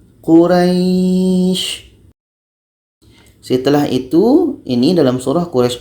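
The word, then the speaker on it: قريش: Quraysh. Kita memanjangkannya di dekat ra, lalu shin menjadi sukun. Quraysh.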